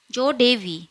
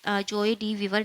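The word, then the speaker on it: joie de vivre: नाउ, नो, जोडीवी, जोडेवी, तो ये जो जोडेवी है ये एक फ्रेंच वर्ड है, तो ये जोए डी वीवर नहीं बोलेगा, जोडीवी।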